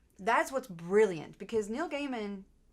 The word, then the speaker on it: Gaiman: what's brilliant because Neil Gaiman is it Gaiman or Gman I I pronounce it gaim okay Neil Gaiman also